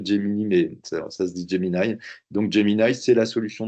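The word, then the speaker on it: Gemini: qui a été renommé rebrandé jy donc ça s'écrit Jini mais ça se dit Jini donc Jini c'est la solution de Google et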